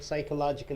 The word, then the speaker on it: psychological: Psychological, you have to say here. P is silent.